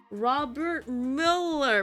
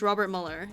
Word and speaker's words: Robert Mueller: Robert Miller. For some reason, seeing it, like, spelled out fucks up my pronunciation. But yeah, his name is Robert Mueller.